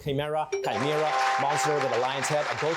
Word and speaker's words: chimera: It's chimera. Or chimera, correct. Chimera, monster with a lion's head, a goat's body, and a serpent's tail.